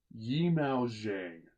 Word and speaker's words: Zhang Yimou: want to make sure I say that's right yimou zhang yimou zhang i want to make sure pronounce his name rank because he's an absolute